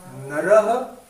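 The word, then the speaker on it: नरः: How do you pronounce that? Nara? Naraha, you pronounce after me.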